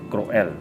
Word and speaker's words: cruel: english it's cruel okay but in spanish it's croel another thing h is not is silent is pronounced silent in in spanish okay